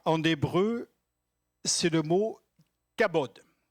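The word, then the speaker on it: כָּבוֹד: Le mot gloire en hébreu, c'est le mot kabod. C'est facile à prononcer, kabod. On le dit tous ensemble? Kabod. K-A-B-O, avec un truc dessus, D. Kabod.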